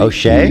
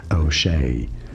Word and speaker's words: O'Shea: No, it's not O'Shea, but rather O'Shea. O'Shea, rather easy once you know.